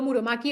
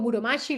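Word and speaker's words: Muromachi: Ese periodo Muromaki o Muromashi lo irán pronunciar de las dos maneras, del 133 al 1500.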